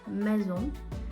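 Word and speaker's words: maison: з низом будинок дім мезун хоча воно пишеться з S читається як з мезон і зего читається з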